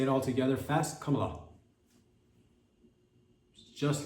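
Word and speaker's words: Kamala: pronounced I believe believe it's pronounced it's like it's very simple it's come a lot if you're having it because I did hear Bill Clinton at one point calling her name camela camela wrong what you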